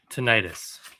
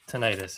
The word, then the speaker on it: tinnitus: Titanus. Now that we said a bunch of words, yeah. Tinnitus. Tinnitus is how you say it. Right.